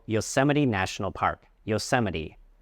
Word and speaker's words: Yosemite: Yoseite. Remember the stress is on the second syllable se Yoseite.